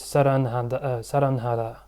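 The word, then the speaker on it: 사랑하다: Well, h is not pronounced really, but anyway.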